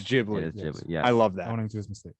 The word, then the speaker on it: Ghibli: hard g like ghibli sound but miyazaki pronounces it with a soft g so so grammatically it's supposed to be ghibli but to the founder it's ghibli yeah i love that